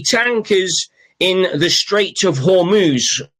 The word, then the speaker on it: Hormuz: in the straight of Hormuz or Horumus. Uh if you can't pronounce it properly, just think of it as humus.